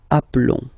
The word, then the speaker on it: appelons: Okay, so here for nous and vous, so we've got only one L, like here in the infinitive form. So that's the reason why I've been pronouncing appelons. Okay, and then appeler.